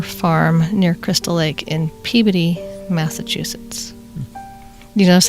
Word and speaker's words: Peabody: said pb instead of peabody if you go to massachusetts they say peabody so now i say that like i'm really cool because i know stuff i would have said peabody i would have said it wrong it's peabody there you go like lobster